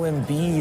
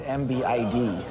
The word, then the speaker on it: Embiid: the non-med totals right oh embiid is that how you say it I always thought it was mbid Steve limping in with